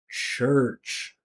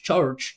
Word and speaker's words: church: the attention in the church. Church. You hear this? This is where all the attention is. Church. It's not church. Charge church is church just nothing else.